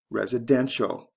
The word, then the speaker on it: residential: follow the same patterns residence residential first syllable to third syllable c e to t